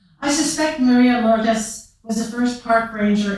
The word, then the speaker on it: Lourdes: I love the Spanish pronunciation, Lourdes, with its round and cornered letters, richer than the brusque French Lourdes, where the liquid of the first syllable dries out on a quick exit of the second.